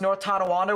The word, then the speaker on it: Tonawanda: Pronounced North Tonawanda without a hiccup earlier.